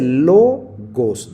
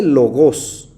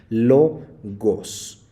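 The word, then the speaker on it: λόγος: sílaba se llama paroxitona aquí dice logos no dice logos porque el acento no aparece sobre la última sílaba sino en la penúltima logos cuando aparece en la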